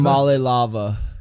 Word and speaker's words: Iamaleava: Iamaleava? Iamaleava.